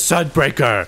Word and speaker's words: Sunbreaker: If you think it rhymes with Hunsaker, then you're right, because Sunbreaker.